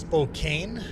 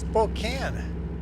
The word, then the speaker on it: Spokane: It's not pronounced Spokane. Spokane. It's pronounced Spokane. That's how. Actually, I've heard people pronounce Spokane, but when I'm in Spokane, people call it Spokane.